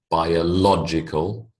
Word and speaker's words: biological: these words into pairs notice the shift in emphasis when I build the word the emphasis changes biology becomes biological history